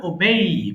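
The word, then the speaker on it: obey: ওবে অর্থ মান্য করা, আমরা ওবে বলি, এটা সঠিক উচ্চারণ হয় ওবেই, মান্য করা।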